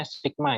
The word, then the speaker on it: sigma: Ini E ini dia bacanya sigma ya.